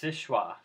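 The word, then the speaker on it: Seul Choix: sis schwa Lighthouse that's how it's pronounced it's pronounced sisha French it's near Gulliver Michigan um the old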